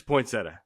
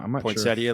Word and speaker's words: poinsettia: Uh, people in New York add a long e, but people in the south leave it out.